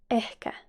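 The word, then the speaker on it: ehkä: maybe in finnish is echa eh remember that you need to pronounce the h in finnish you always pronounce the h and we have a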